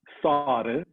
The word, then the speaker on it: sare: So barley in Assyrian is sare. Not Sara, like the moon, but it's spelled differently. Sare, like plural, like barley, and Mia, water.